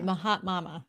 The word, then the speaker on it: Mahatma: Is that how you say it? It's a Mahatma. joke because I'm Indian. Like it's Mahatma Gandhi, but I did Mahat Mama. Oh, okay. Mahatma. Mahatma. Is that right? Yep, Okay.